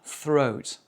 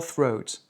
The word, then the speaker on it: throat: un mot en th, tu mets la langue sur les incisives et tu souffles.